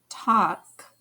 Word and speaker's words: talk: call ball wall tall talk walk in talk and walk the l is silent we don't hear it talk walk the a sound can